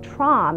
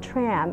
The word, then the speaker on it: Tram: let them know that my name is pronounce tra and not tram and and not and or whatever other pronunciation that they choose to say and this is something